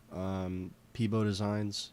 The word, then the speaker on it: pb0designs: Peebo Designs is how it's pronounced.